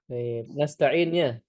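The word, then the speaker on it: نَسْتَعِينُ: nastainya. Nastain di ujung hati-hati dengan ain e nam agak kurang tadi.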